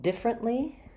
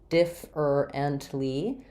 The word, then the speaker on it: differently: have the question about differently so even though this looks like differ ently we don't pronounce it that way we pronounce it differently different Le so three syllables with first syllable stress so it sounds like